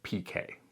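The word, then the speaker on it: piqué: This honeycomb fabric is a different word, and in the textile industry, at least in English at least, they pronounce it as pique.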